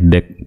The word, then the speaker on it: deque: Atau dibaca dengan the queue, atau biasa juga disebutkan deck ya. Deck, kita bacanya deck.